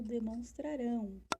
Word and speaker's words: demonstrarão: Então, eu tenho os 2 verbos aí, ó, demonstraram e o demonstrarão. Olha a pronúncia como é diferente. Demonstraram e demonstrarão.